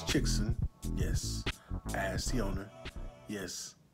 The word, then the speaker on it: Chixen: week big so let's talk about chicks yes pronounce chickson yes ask the owner yes that is how